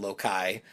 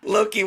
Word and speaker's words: Loki: goddess bracelet, the only thing that can kill Loki, or as Cyril called him, Lokai, in the video. Hey. Look, I was young. Nobody corrected me. The Avengers were not out. Loki wasn't in the lexicon yet.